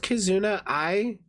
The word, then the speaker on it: Kizuna AI: do that, and debuted Kizuna AI in 2016. She very closely resembles... Isn't it pronounced Kizuna I? But, because she's like not an AI.